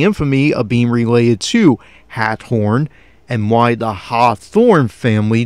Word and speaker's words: Hathorn: And I'm kind of emphasizing the pronunciation as Hathorn, because keep that name in mind. That is indeed the ancestor of Nathaniel Hawthorne, whom would write in